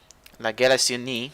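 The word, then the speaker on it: La Galissonnière: So, La Galissonier, Galissonier, La Galissonier, which is how you say it in French.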